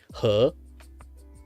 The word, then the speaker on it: He: He like river from like Chinese word.